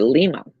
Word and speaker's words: Lima: Okay, Lima. Yeah. A small community in LaGrange County, Indiana, pronounced as Lima.